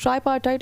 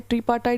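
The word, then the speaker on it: tripartite: Nepal, India और बांग्लादेश ने बच्चों एक ट्राईपार्टाइट एग्रीमेंट साइन किया है। ट्रीपार्टाइट भी बोलते हैं, कोई ट्राईपार्टाइट बोलते हैं। अगेन इट्स ऑन यू, आपको क्या प्रोनाउंस करना है।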